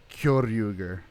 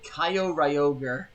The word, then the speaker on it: Kyoryuger: I heard a guy. Then again, I do like this guy. He said Kaio Ryoger.